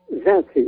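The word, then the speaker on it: Xan: your most welln for the uh series uh Zan I think it's pronounced x a an T Zan yes okay um it's a fun series you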